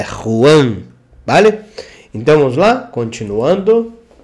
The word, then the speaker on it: Juan: com j no Brasil Juan Não não é Juan é Ruan vale então vamos lá